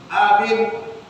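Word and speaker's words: آمين: Kalau kata penting kita baca panjangnya di i, amin. Yang betul bacaannya di depan A 2 harakat, di I-nya sekitar 2 atau sampai 3 harakat.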